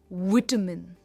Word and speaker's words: vitamin: आप इसे कह सकते हो वाइटामिन, जो यूएस प्रोनाउंसिएशन है, वाइटामिन, या आप कह सकते हो विटामिन. दोनों भी प्रोनाउंसिएशंस परफेक्ट है. आई जनरली से विटामिन. मैं जनरली विटामिन ही कहती हूँ.